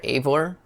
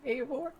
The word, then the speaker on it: Eivor: Eivor Alamov. Warby Parker. Like Assassin's Creed, Eivor. Like that. But, I mean, it's spelled the same way.